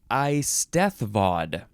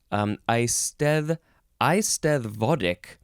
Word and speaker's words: Eisteddfod: Okay, the first word in this episode is Eisteddfod. I think that's how you say it. Eisted. You got to say that hard th.